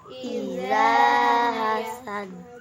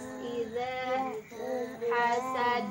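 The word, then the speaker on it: إذا حسد: Gimana cara mengucapkannya? Iza hasad. Lidahnya itu harus nempel ke gigi yang atas. Iza hasad.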